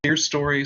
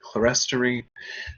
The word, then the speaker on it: clerestory: The row of windows I referenced earlier is referred to as the clerestory. Some people pronounce it clerestory.